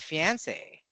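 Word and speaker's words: fiancé: How about fiance? F. Fiance. Three. Three syllable. Fiance. Fian. Fiance. Three. Three. Yeah. And how did it become three syllable?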